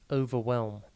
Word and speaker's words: overwhelm: time today's word is overwhelm it is pronounced o vwm and it is spelled o v e r w h e l m think over and then whelm with a silent h overwhelm has two meanings